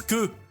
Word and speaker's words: que: it's que. It's not K, it's que. Que, because the tiny E, U together is E, and the last E is silent because it's an E.